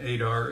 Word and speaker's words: Adar: not Nana Nona yes and Adar is like radar without the r and front that was actually the